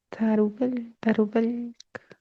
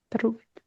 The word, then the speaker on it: Tarubel: Sí, Tarubel, es como si lo pronunciaran muy rápido y gritando, Tarubel, Tarubel.